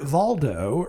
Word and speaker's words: Waldo: Uh it's it's spelled like Peter Waldo, but I'm pretty sure the W is pronounced like a V and you'll see why later on.